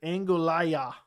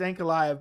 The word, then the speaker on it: Ankalaev: Another good fight would be Yuri versus Angolaya. It's Ankalaev, but I know it's hard to spell it.